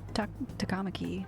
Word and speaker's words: Takamaki: you as well oh Sakamoto and takamaki takamaki takamaki that's how you say it well I'm flattered